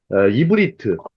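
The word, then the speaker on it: עברית: 그래서 이브리트. 발음은 이브리트인데 히브리 민족의 특징이 이 건너온 자들이라는 표현이 있어요.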